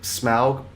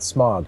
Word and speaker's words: Smaug: I never understood why we decided to pronounce it Smaug and not Smog. I don't know how that happened. because in Tolkien the AU is always Au. That's Sauron. It's not Sauron. It's the diphthong is always the same pronunciation.